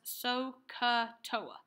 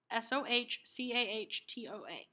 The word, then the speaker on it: SOH CAH TOA: having is for art I can also pronounce this as so ku Toa so KU Toa Soh CAH Toa these go together s